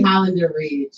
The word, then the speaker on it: Hollander Ridge: Am I saying it right? I say Hollander Ridge. Yeah, okay. That's right. That's right.